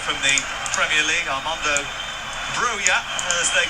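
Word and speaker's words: Broja: Did actually ask you once whether he's we should say his name is Buyer or Roger. He didn't really care. told me to say broer and then two minutes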